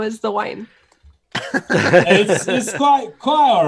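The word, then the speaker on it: Nguyen: the chats win yeah win is ng you why yeah if I pronounce win now I happen to learn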